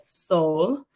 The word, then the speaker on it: Sol: soul at home experience, I will call it soul, but it is spelled SOL or /SO. I'll write it out for you guys. It's a play on soul and soul.